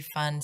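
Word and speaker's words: Pfund: Is that fund? Fund? I believe the P is silent.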